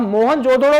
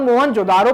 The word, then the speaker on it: मोहनजोदड़ो: अब मोहनजोदड़ो भी प्रोनाउंसिएशन सही है और मोहनजोदारो प्रोनाउंसिएशन भी सही है, क्योंकि ये डिफरेंस आ जाता है हिंदी और इंग्लिश का।